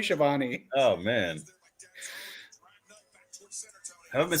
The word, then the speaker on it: Schiavone: How do you say his name? Tony Schiavone. Oh, it's not Siobhan? Not unless you're in France, maybe, but it's Tony Schiavone.